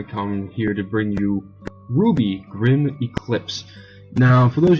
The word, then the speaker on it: RWBY: look into it and notice it is pronounced Ruby wrwby are actually the initials of the main characters and it'll make more